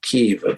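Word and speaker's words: Kyiv: I mean I'm sure ke as we now should call it using the Ukrainian pronunciation um it doesn't look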